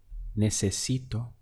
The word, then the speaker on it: necesito: To say I need would be necesito. Let's count the syllables. We have ne, se, si, to. Necesito is I need.